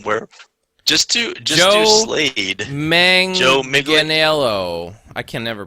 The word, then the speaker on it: Manganiello: Joe Manganiello. I can never pronounce There you go.